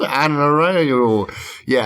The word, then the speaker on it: Ahnayro: Darren has said it in every possible pronunciation and spelling. Ahnayro.